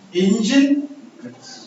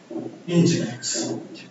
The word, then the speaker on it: Nginx: It's usually pronounced engine like this. Nginx.